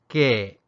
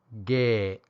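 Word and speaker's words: ခဲ့: it would be K however it also has this symbol which changes the high tone to a creaky tone a short falling tone that ends with a glottal stop so the pronunciation is gay or gay and I'll explain which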